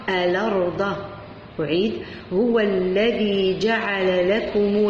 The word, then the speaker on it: الأرض: إذا كانت هنا همزة وفوقها الفتح، إذا حذفت الهمزة ونقلت الحركة تاع الهمزة إلى الحرف اللي قبلها وأصبحت تنطق الأرض.